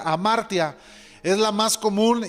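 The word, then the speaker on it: ἁμαρτία: es una palabra que se menciona no se pronuncia amartya es la más común y conlleva la idea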